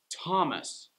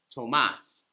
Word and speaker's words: Thomas: that gets the stress like thomas instead of tomas tomas is spanish but this is english so thomas that's a name let's